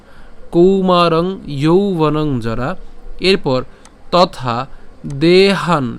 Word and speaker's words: দেহান: এরপর তথা দেহান, এখানে আমরা কি উচ্চারণ করছি? দেহান, অর্থাৎ হ আকার দন্তনা পর্যন্ত নিয়ে আসলাম, দেহান।